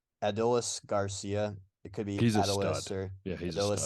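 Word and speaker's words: Adolis García: It's not a super hard one, but it's Adolis Garcia.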